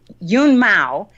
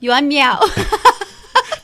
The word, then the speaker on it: Yuan Miao: Yun Mao has a famed and illustrious career. Say it again. Okay, say it for me, Heather. Say her name right. It's Yuan Miao.